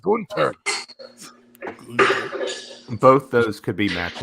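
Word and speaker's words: Gunther: for the braun breaker golf ziggler match it's pronounced gunter both those could be match of the weekend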